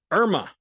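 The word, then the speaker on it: IRMAA: hidden tax which is called irma that is spelled i-r-m-a-a then you will wind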